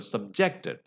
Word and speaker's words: subjected: There the stress is on the second syllable, subjected.